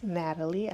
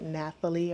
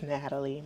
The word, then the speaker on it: Nathalie: I know a lot of people like to pronounce it Nathalie or Natalia or something like that. It's just Natalie. My dad wanted to be fancy with my name and added a little H to it, so it's spelled Natalie.